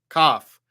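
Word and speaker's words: כף: So the Kaf without the dot makes the guttural sound like Chaf. You have to Chaf. But with the dot in the middle, it makes a K sound, a hard sound like K. Just K, like, Kellogg's.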